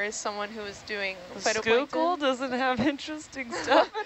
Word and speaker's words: Schuylkill: see this River it's Google oh yeah written Google is the last way that you would pronounce that yeah um there's also